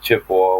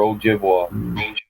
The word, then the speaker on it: Ojibwa: They call us Chippewa, but we're not Chippewa. We're Ojibwa. That's some French bastard that didn't know how to pronounce Ojibwa.